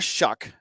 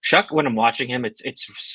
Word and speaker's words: Shough: okay uh so anyways Tyler shuck um that's not how his name looks at all we talk about